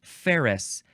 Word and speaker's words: ferrous: Next is ferrous. Ferrous. It is not Ferris wheel, but it is pronounced the same way.